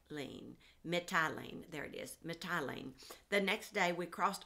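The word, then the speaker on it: Mitylene: mit metellie ah shoot i forgot how to pronounce that one mai tai lean methylene there it is methylene the next day we crossed over to caios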